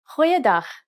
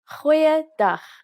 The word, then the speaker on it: goeiedag: Goeiedag, ek is Anne-Marie Luck. Aangename kennis. Let's try that again. G. Try pronouncing it from the back of your throat.